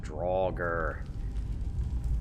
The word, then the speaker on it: draugr: face our very first draugur remember how you pronounce these things but turns out one of the characters pronounced at some point and it's drawled close enough just a regular one